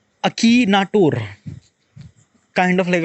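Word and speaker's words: Akinator: सो अकी एन ए टी ओ आर सो अकीनाटोर kind of like अ pronunciation अकीनाटोर अकीनाटोर या like I can't say एक्नेटोर like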